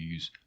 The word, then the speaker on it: u: Well, that's u, which is difficult to pronounce.